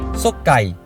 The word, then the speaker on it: 爽快: The Chinese character for Sokai is 爽快 Which is the meaning of Refreshing (Don't pronounce K as H) Sokai is called in